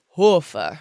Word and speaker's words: Hoefer: it's like, you know, in German, they have the O with the 2 dots above, and that's called the umlaut. Okay. And it kind of like gives the pronunciation like Hofer, which is very German, but it didn't really work out here. So a lot of people put the E there.